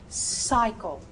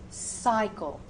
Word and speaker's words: cycle: If the word begins with the C and is followed by those vowels E, I, or U, that C should become an S sound, a soft C sound. So, cycle, cycle.